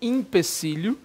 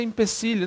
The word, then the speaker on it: empecilho: ter visto também né impecílio não não deve ser empecilho leva impecílio São muitos os empecilhos o pessoal colocando com Ih só talvez pelo por força da pronúncia de alguns né que geralmente